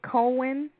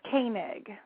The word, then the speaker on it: Koenig: Now, did I pronounce your last name correctly? Is it Cohen? It's Koenig.